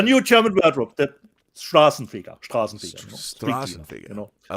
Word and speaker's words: Straßenfeger: Straßenfeger, Rob. Straßenfeger.